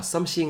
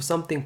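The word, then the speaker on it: something: 라이트 isps 한테 그렇죠 썸씽 아니고 썸띵 발음 잘 아셨죠 잘하셨습니다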